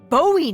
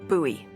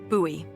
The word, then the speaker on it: Bowie: no warning he pulls out this huge Rusty Bowie knife it's actually pronounced buoy what no it's like the last name like David Bowie different last name buoy are you just messing with me no that's